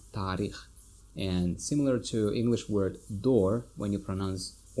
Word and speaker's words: таърих: History, тарих, тарих, or some people say tarikh. So you can say tarikh, but you see, because of letter a, alomati sakta, Tajik letter, you may pronounce it like long a, tarikh.